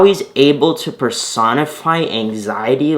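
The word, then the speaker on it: Anziety: It's Anxiety, but it's spelled A-N-Z-I-E-T-Y.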